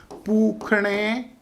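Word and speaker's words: पूष्णे: ओम पुखणे नमः ज्ञान मत दिखाओ कि पूस लिखा और पूण बोल रहे हैं। संस्कृत में षटको वाले स को ख का उच्चारण किया जाता है।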